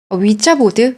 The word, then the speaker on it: 위자보드: 치면 분신사바 같은 겁니다 위자보드 위자 보드에요 제가 잘못 알고 있는 거네 자인데 발음은 위치라고 많이 불러요 아 그 얘기 했던